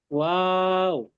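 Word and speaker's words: واو: ওয়াও, হুম, ওয়াও উচ্চারণ করার সময় আমরা আগে ঠোঁট গুল করব, তারপর ওয়াও উচ্চারণ করব।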